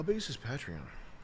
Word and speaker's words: Patreon: it patreon Chris patreon I'm just kidding patreon it should be patreon they call it